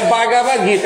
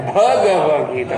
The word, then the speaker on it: Bhagavad Gita: Primeira sílaba, Bha. Não é Ba, não é Bhagavad Gita, é Bhagavad Gita. Vocês já aprenderam ontem, né? Tem que aspirar, tem que sair.